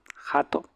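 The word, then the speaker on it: はと: Jato, acuérdense la H se pronuncia.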